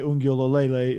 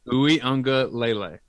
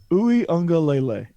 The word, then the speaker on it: Uiagalelei: they lose Trevor Lawrence, but I mean, DJ Ungulolele is, and I'm pretty sure I butchered that. Ungulolele. I've really worked hard. Ungulale. You've been practicing, haven't you? Uiagalelei. Uiagalelei.